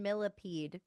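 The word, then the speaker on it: Millepied: But it's like millipede like the bug, but it's spelled like fancy. And I find it to be hilarious. I maybe it's like me pa like a thousand feet. Oh, like milliped.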